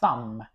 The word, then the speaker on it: thumb: B is uh thumb. Uh actually B is not pronounced.